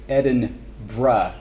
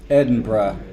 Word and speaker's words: Edinburgh: You know that apparently to pronounce it correctly it's Edinbr as in like br uh brah Edinburgh.